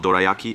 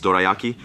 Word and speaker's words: dorayaki: She told me it's not dorayaki, it's dorayaki.